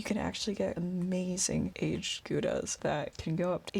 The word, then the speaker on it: gouda: dutch so first off gouda properly pronounced gauda but probably not is a very good